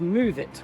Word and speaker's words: Moovit: My favorite app for buses is called Move It, which is spelled with a double O.